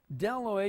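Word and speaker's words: bdelloid: we reproduce or not dela you don't pronounce the B the B his silent so why put it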